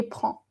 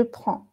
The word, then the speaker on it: prends: Ici, vous voyez, même si ça s'écrit un peu différent, prend et prend, avec S, ça se prononce pareil. Tu prends, on prend, il prend, elle prend. Ça se prononce pareil, même si ici, j'ai mis un S.